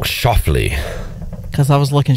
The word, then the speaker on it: Schauffele: It's pronounced differently than how it's spelled. Schauffele. Because I was looking Schauffele.